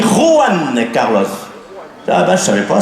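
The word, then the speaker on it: Juan Carlos: connu ah bon qui Joann Carlos Joann Carlos j'ai dit oui Joann Carlos dit pas Joan les j en Espagne il se prononce re on dit ran Carlos ah ben je savais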